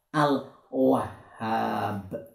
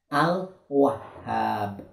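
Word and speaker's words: الوهاب: kalau wawu atau wow hah ada tasydid ya ada target ada fatah membacanya wah biar sampai ke huruf h karena fungsinya test kit adalah merangkap atau menggandakan huruf jadi wah begitu kemudian hah alif fathah ha panjang ban rumahku kalau berhenti atau waqaf maka punya jadi sukun jadi ini membacanya adalah al-wahhab al-wahhab sama-sama al-wahhab ayo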